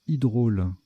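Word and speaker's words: hydraule: Je ne sais plus comment ça se prononce, mais il me semble que... Non, c'est hydrôle.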